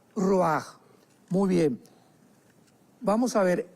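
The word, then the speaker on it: ruach: parte espiritual que es la palabra roach, que se pronuncia roaj.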